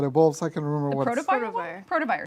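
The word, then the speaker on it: Protovyre: Protovire. Protovire. Protovire?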